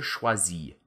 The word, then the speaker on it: choisis: They all sound the same, you know? You just drop that R sound at the end and you've got it made.